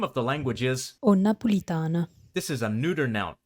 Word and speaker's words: Nnapulitano: Something you'll notice in Neapolitan spelling and pronunciation is the doubling of initial consonants in certain contexts. As we saw before, the name of the language is Nnapulitano.